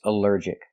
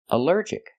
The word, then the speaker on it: allergic: Here the al is not pronounced all but pronounced uh like in cup and up because it's not stressed.